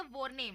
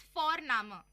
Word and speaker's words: Vorname: और हम यहाँ पे फोरनामा प्रोनाउंस करते हैं बट लिखते हैं उसको VORNAME। ओके, तो वो हम इंग्लिश के अनुसार प्रोनाउंस करेंगे तो वो बनेगा वॉरनेम, बट नो, इट्स फोरनामा।